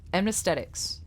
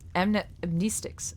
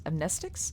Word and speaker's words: amnestics: and administer class A amnesthetics. Amnestics. Amnestics. Amnestics. That's how you guys told me to pronounce it. Amnestics. It's It's like amnesiacs, right? Because it wipes your memory.